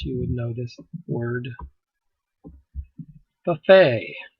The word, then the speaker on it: buffet: would know this word buffet it's a french it comes from french okay here this is the t you do not pronounce you do not say the t lay buffet the t